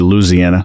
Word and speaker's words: Louisiana: And so in Texas and in the South, I live in Louisiana, bull, well, too. Yeah. And so it's actually Louisiana. That's right. And it's just no syllables there, or very few, excuse me.